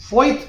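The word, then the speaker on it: Voith: least and that is फोथ paper but इसकी spelling बता दूं वी ओ आई टी एच तो ये कई बार ऐसे जर्मन कंपनियां होती है तो ऐसा नाम होता है बट ये कंपनी भी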